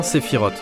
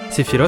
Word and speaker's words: Sephirot: se nomment des sephirotes donc là je dis bien Sephirot sephiros c'est la prononciation japonaise du terme mais la prononciation originale c'est Sephirot on continue Genova est